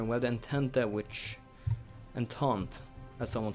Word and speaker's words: Entente: Entente, as someone said, I should pronounce it as Entente.